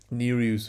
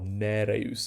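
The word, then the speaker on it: Nereus: is spumous neruse um neruse with a long e or neros if you like so foaming neruse spumaus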